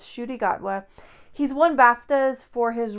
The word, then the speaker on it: Ncuti Gatwa: You might be tempted to pronounce his name Ncuti Gatwa, but according to Wikipedia, it's Ncuti Gatwa.